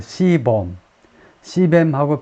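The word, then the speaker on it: CBAM: 이제 조정하는 그래서 줄여서 C 어떻게 읽느냐 봤더니 C 뱀이라고 읽네요 시하고 뱀하고 but been the C 뱀하고 비슷하게 C C 폭탄이라고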